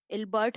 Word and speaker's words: Ilbert: Next था ILBERT, इल्बर्ट, हम इसको प्रोनाउंस कर सकते हैं फ्रेंड्स।